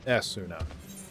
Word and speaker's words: Esuna: So in Japanese it's pronounced with an eh sound, so esuna.